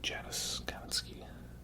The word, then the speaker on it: Janusz Kaminski: Janusz Kaminski, right?